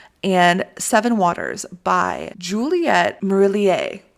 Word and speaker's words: Marillier: Waters by Juliet maroulier it's French marillier Morelia okay okay so if that pronunciation is not right I took two years of French in high school and that's been over 10 years so I tried marillier I think is how we say it but guys if you